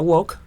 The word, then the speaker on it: woke: y empezó a aparecer una palabra que se pronuncia Wok se escribe w pensemos en el W de